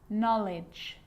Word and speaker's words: knowledge: know you know this one okay is not pronounced when it comes before an M like knife no need knock not knowledge the letter L can be silent too and